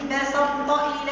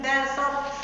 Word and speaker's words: بسطت: لئ بسطت الي يدك امش مخرج الطاء لان بسطت الي بسطت الي بالطبيعه كانك مش ننطق الطا لكن تنطق لان بسط اليه لا هذ هذه الطا خالصه لئن بصت الي عاود ما يمزك مش صحيحه لان بصب سع بس بسطت بسطت بسطت بسطت نمشي لمخرج الطاء ينطق طيب لان بسط